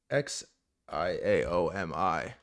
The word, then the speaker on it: Xiaomi: Oh, how do I pronounce that? Z X I A O M I. The world's third largest smartphone manufacturer, Xiaomi. The world's third largest smartphone manufacturer, Zhoi, made a $40,000 electric car that goes 0